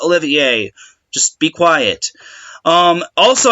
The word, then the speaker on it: Olivier: those of you saying oh no it's Spencer's what last name isn't pronounced Olivia it's Oliver no it's pronounced Olivier just be quiet um